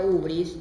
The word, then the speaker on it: hibris: Pero esta hibris que todo el mundo acá pronuncia ubris, está bien, no importa, es válido totalmente.